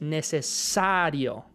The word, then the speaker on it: necesario: Los hispanohablantes, cuando están diciendo, por ejemplo, esta palabra, necesario, en español la sílaba tónica es necesario, ¿verdad? La énfasis va en esa A.